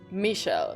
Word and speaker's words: Michel: That Michael's name is supposed to be pronounced like Michelle. Michelle and then Michelle. Michelle and Michelle. So, they're pronounced almost the exact same.